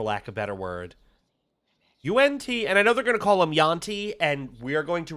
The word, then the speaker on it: yuan: Unti, and we are going to reject that because that's not how you pronounce yuan. Uh, uh, it's not yan, it's un.